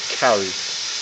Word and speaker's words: curry: Curry, while we pronounce curry, it's not actually curry. In India, it's pronounced kari, as in Kari, and it's just a method of cooking.